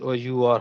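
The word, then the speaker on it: hour: words some words are their first letter is silent for example here this one actually it is h o h o u r however but we read it as our so it sounds with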